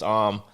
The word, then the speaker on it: Amb: yeah and it's actually if you if you say my name right it's norwegian it's am so if you say american it's why i did that okay um everyone even